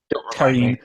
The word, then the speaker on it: Karin: Is Karen still around? Or Karen? Karin is how they pronounce it, I guess.